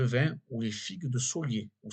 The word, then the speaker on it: Soliès: ou les figues de Solier ou Soliès. Je ne sais pas si on prononce tout, c'est écrit Soliès. S-O-2-L-I-E-S.